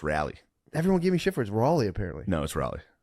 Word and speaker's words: Raleigh: It's pronounced Rally.